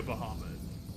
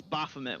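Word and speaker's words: Baphomet: the dragon name it's bamet with an F Well pH technically but you pronounce the F sound not just shove him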